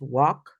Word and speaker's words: walk: with talk remember that an L before a k you don't pronounce the L for example it's not W it's walk it's not to it's